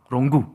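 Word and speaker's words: rungu: 이거는 롱구라고 불러요. 롱구. 이것도 아프리카 발음으로 해요. 롱구라고 해요.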